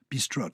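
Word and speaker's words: bistrot: the restaurant or the spelt with a t on the end b-i-s-t-r-o-t yes b-stroke that's how it is in french and i think we dropped the t very good i think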